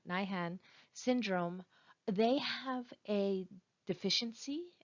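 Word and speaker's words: Lesch-Nyhan: these people suffering from leish nyman uh nihen sorry I keep mispronouncing that nihan syndrome they have a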